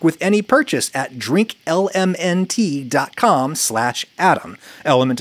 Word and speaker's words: LMNT: Element is spelled L-M-N-T.